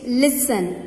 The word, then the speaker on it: listen: Bibit, listen. L-I-S-T-N, so T will be silent, children.